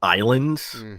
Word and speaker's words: Ylands: And they had this sandbox survival exploration game called Islands, spelled with a Y. Islands with a Y. It's cute, very cute. It should be Wylands, but it was called Islands.